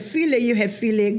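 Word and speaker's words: filé: When you had filet gumbo. And that's F-I-L-E with the accent on the E, else it would be foul.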